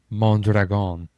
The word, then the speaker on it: Mondragon: thank you, Chad Mondragon.